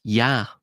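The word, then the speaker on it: יה: 15 in Hebrew is pronounced Yah. Now, because of its connection to the holy tetragrammaton, it's typically altered, it's changed, right? It's usually not pronounced as Yah in common parlance, but that is how it is actually pronounced in the Hebrew language, or it's how it's at least codified in that language.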